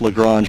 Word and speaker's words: Lagrange: a different different pronunciation you know daryl reminds me all the time it's lagrange but if you're from the south it's probably something else i don't know but